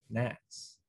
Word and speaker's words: gnats: top i'm talking about g-n-a-t-s nats oh um yes they do suck i also i'm not a fan of silent letters at all i hate